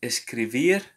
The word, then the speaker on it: escribir: To write is escribir. Escribir. So we know that the letter B sounds like a V.